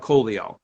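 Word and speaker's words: Collio: yep and then um the doc is actually called the polio but they call it coleo um and then the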